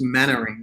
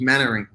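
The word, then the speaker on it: Mainwaring: it's it's written main wearing but it's actually pronounced mannering so like there's mannering mannering okay mannering okay i'm going to get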